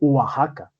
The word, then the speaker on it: Oaxaca: Pero se lee realmente Oaxaca, ¿sí? Con J.